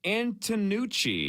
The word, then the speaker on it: Antonucci: three lengths uh Jenna we're gonna go with antonucci that's right that's how you say it okay